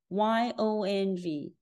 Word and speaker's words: yong: Inheriting the pronunciation of I-O, Y-O combination is pronounced as U. The whole syllable is pronounced as yong.